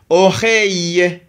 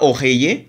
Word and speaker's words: oreille: i r ça donne le son oreille c'est pas orey parce que le e ici c'est mué le e qui doit